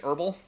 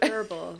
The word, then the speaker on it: herbal: or herbal I say herbal I do the French pronunciation the H is silent herbal that's what I thought